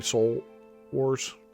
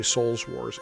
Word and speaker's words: Soul Wars: when I was doing Soul Wars or yeah soul Wars can never say it right but I actually did first first try that time I always try to say Souls Wars anyway yeah I think